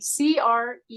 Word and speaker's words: Cree: cre K or k c r e e cre cre okay there's no T at the end or anything I didn't know it's just cre not Korean K oh